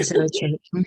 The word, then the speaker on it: Zoetrope: Her first pamphlet, I don't know how to pronounce it correctly. Is it Zoetrope? Yeah, Zoetrope. Zoetrope is forthcoming with Hedgehog Poetry Press.